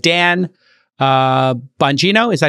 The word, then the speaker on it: Bongino: system and these included people like Dan uh bongino is that how you pronounce it yes he was tagged with being